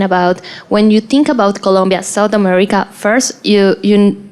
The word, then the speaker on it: Colombia: I was sharing about when you think about Colombia South America First you you don't know how to pronounce it if you are from out of